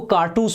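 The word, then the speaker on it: cartouche: एक है आपका क्या, इसको कारतूस पढ़ते हैं, कारतूस। ठीक है, कारतूस, जैसे कारतूस बोलते हैं ना वैसे ही इसका प्रोनाउंसिएशन है, कारतूस।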